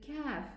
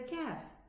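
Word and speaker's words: كاف: And also we do the same thing with the kaf. We say ak, ka, ak, ki, ak, ku.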